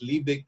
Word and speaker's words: Liebig: live means shoot poser but actually actually the pronunciation is libic and lipic is the name of the scientist